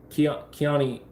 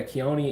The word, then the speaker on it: Keone: the first time yeah keone is Hawaiian and is Japanese yeah look at me